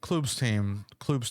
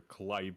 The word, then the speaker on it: Klub: Because so Klub is Russian, and in Cyrillic, the letter that looks like a Y is actually the letter U. And everyone always everybody, you know, from NA or even from like Western Europe, they always get very confused and they pronounce it like either Kleib or whatever.